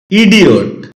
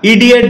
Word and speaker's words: idiot: ইডিয়ট। এটাকে আমরা ইডিয়েট বলে থাকি, যার সঠিক উচ্চারণ হচ্ছে ইডিয়ট।